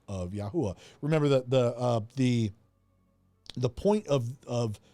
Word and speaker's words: YAHUAH: Allen, your brother Allen believes that it's pronounced YAHUAH in the later chapters.